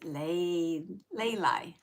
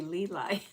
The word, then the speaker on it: Layli: Awesome Cool Girl says it's Layli. Is it Layli? Layli. How's that? Let me know. Layli? I still want to say Leeli.